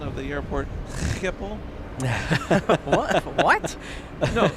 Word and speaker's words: Schiphol: I think we would call it Skipple. But maybe that was just to keep it simple. I don't know. Okay. So Yeah. what's the proper one? It's Schiphol.